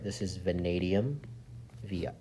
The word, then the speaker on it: vanadium: on your periodic table all right this is vanadium via V is vanadium that's how you pronounce that FR is francium s e is